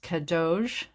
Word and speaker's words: Cadeautje: So the pattern we're working on here is, I believe it's pronounced Cadeautje, and it's C-A-D-E-A-U-T-J-E, and it's by Ysolda Teague, and it's a pair of thrummed slippers.